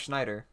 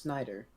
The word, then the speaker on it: Snyder: and they like rearranged i thought it was schneider i think it's just snyder that makes sense but